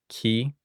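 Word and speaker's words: καί: Tha Ka Da Pa This combination here, ke, this is the most common word in Greek. It's just the word for and. Ke is and.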